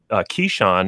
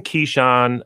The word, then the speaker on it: Keeshond: one of the breeds Keshawn is spelled ke e sh o and D if you're like going wait what is he saying so we have one Keshawn as we're doing this